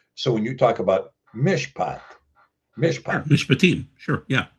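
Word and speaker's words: מִשְׁפָּט: it's pronounced mishpat because instead of taking the pay and saying pet, you say Yeah. fet, Yep. mishpat instead of mishofet.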